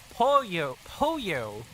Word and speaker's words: pollo: You use the word for chicken to remember how to pronounce the double L. Pollo.